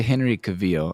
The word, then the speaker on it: Henry Cavill: So, back to Henry Cavil. I swear that's how you pronounce it.